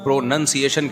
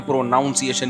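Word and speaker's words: pronunciation: प्रोनाउन है प्रोनाउन है लेकिन जब इसको प्रोनंसिएशन कहेंगे ना प्रोनाउंस एशन नहीं कहते तो मैं अपनी तरफ से इतिहा करके प्रोनाउन से प्रोनाउंस एशन बनाता था मु किने बताया यह प्रोनाउन सिएन जब होगा तो प्रोनंसिएशन होता है नाउन नहीं तो लुगत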